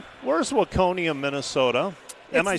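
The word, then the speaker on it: Waconia: So where's Wakonia Minnesota?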